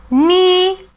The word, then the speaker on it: knee: ඒ කිව්වේ K අකුරයි N අකුරයි එකට යෙදෙනකොට K අකුර අපි ශබ්ද නගන්නේ නැහැ. pronounce කරන්නේ නැහැ. අපි උදාහරණ ටිකක් බලමු. no, knife, knee, knock.